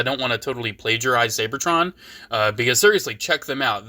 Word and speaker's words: Seibertron: I always have pronounced it Seibertron. I've heard some people just call it Seibertron. It's spelled weird, so I've always pronounced it slightly different, so people know what I'm talking about.